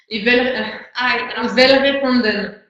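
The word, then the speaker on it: Welgevonden: avez dit Pilanesberg et Velvet-Randen. Ça ne s'écrit pas comme ça se Non, prononce. c'est W-E-L. Non, W-E-L-G-E-N-V-O-N-D-E. Voilà, c'est un nom un peu barbare, c'est un nom afrikaans, qui est donc la langue des Afrikaans.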